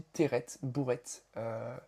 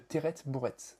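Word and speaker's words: Terret Bourret: Alors on dit pas terré, on dit ter bourrette. C'est comme ça que les vignerons notamment à Faugère le prononcent notamment Léon Didier Baral. Donc on dit le Terret Bouret.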